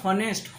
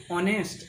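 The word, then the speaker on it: honest: আমরা উচ্চারণ করি না আমরা উচ্চারণ করি ও থেকে অনেস্ট অনেস্ট ও যেহেতু ও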